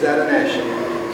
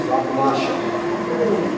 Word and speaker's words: Atanacia: To me, this is Atanacia. To many of you, this is Atanacia. Atanacia, see, I didn't say it right, okay? But to me, this is Atanacia, I'm Anglo, okay?